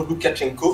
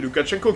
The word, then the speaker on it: Loukachenko: Ils voulaient un petit peu se débarrasser du monsieur que vous voyez derrière Poutine, Alexandre, que je prononce bien son nom, Loukachenko. C'est Loukachenko qui est au pouvoir depuis très longtemps.